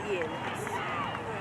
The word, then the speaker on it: Ian: No, it's Ian. Go Pandas! The same initial was that in Oh, I-A-N. I got it. I-A-N. Where is it? Yeah, it's Ian. But no, because the I's pronounced E.